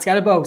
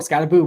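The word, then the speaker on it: Skattebo: Not scottabo. Scataboo.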